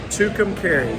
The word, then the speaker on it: Tucumcari: yeah yeah how do you say it again tucumcari that's right two containers new mexico i i'm